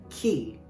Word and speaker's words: chi: The sound of the letter chi is like our k, and the letter rho is pronounced like our letter r.